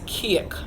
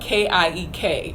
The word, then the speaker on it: kiek: So cake is kiek. And that's spelled K-I-E-K. So cake is kiek.